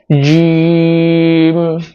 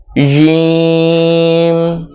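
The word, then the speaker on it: جيم: তারপরের হরফ হলো জিম। জিমটা উচ্চারণ করতে হবে জিহ্বার মধ্যখান উপরের তালুর সাথে লাগিয়ে বাতাস বের হওয়া ছাড়া উচ্চারণ করতে হবে, অর্থাৎ বাতাস বের করতে পারবেন না। দেখুন জিম জিম জিম জিম জিম জিম।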